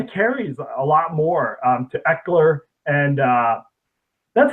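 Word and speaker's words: Ekeler: But they've been, splitting the carries a lot more to Eckler, and that's how you say his name, right? Austin Eckler. Yeah, Eckler, yeah.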